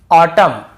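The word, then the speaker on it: autumn: जैसे ऑटम column dam हाईम तो यहां पे हमें ऐसे ऑटम कॉलम डैमन ऐसे हाईमन ऐसे नहीं पढ़ना है।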